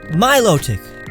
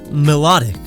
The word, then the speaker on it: Milotic: Milotic, like Venus de Milo, a symbol of beauty, not melodic.